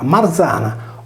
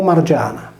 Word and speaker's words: Marzana: capire che il nesso r+ i più vocale o r+ y più vocale traduceva il nostro r + z più vocale o il nostro r + g più vocale per cui la città si pronunciava Marzana o margiana marzane Mariani o mariane è